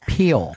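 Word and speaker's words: Pelé: knows just do different generations man and it's pronounced Pele Oh Pele 12 is Jim Brown Jim Brown obviously dominated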